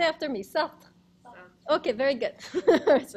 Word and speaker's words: Sartre: Say after me, Sartre.